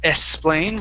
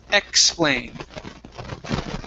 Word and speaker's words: explain: So with the X here, this is a KS sound. So instead of explain with an S only, it's explain.